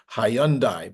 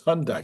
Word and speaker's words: Hyundai: with the hyi Hyandai I pronounce that because that's how it looks it looks like hyundi but everybody says it's Hyundai so anyway the ayani